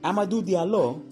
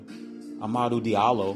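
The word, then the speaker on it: Hamidou Diallo: anyway since nwa now about amadu diallo because that's how his name is pronounced and not uh amaru diallo or whatever he was amazing i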